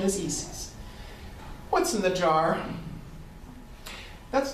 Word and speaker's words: Isis: is the Roman goddess EES we call her Isis but the proper pronunciation is EES what's in the jar that's not a water